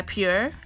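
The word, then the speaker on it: Pür: one blush book by Pierre I believe that's how you pronounce it PU R this is the most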